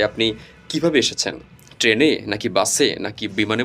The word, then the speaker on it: বাস: হচ্ছে বি ইউ এস তাহলে এই যে শেষে এস এর উচ্চারণটা আসতে হবে কিন্তু তাহলে বাস আর আমরা যখন বাংলায়